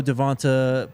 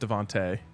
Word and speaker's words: DeVonta: people did not know Devonta played cornerback two he feels Travis can be a Swiss army knife like him I love that comparison but I think Travis is better I think it's pronounced Devonte um but uh that's